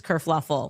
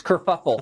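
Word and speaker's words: kerfuffle: Prince Harry abdigates England causes this whole race kuruffle. Oh no, that's it's kurfuffle.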